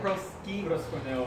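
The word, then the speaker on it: προσκυνέω: Wait, how do you pronounce it? It's like proskuneo.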